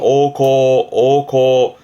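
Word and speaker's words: 王侯: 왕후, 왕과 제후를 말하는 발음은 오코.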